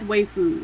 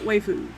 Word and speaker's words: waifu: Cat waifu. Am I pronouncing that right? I think it's waifu. Waifu. As in wifey.